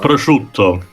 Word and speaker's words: prosciutto: do you pronounce that name too? Prosciutto.